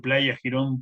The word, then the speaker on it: Playa Girón: Y dentro de la Bahía de Cochinos, en Playa Girón, como le pronuncio Playa Girón como la pronunciación cubana, ya que ahí se